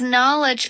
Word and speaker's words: knowledge: 첫 번째 스펠링 K는 소리가 나지 않는 묵음이기 때문에 그 뒤에서부터 발음을 해주시면 됩니다.